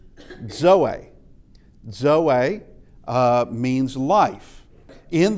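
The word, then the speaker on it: ζωή: Uh this is zeta and it behaves like our Z but it is a dz sound as in adds uh and uh a common word is zoey.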